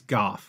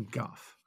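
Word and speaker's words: Gough: kidding by the way I think it's Goff we may have been miss pronouncing it for years here Phil it's Michael Goff yeah he is he's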